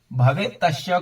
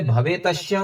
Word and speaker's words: भवेत्तस्य: इसे भवेतस्य नहीं बोलेंगे, भवेत तस्य ऐसा बोलेंगे।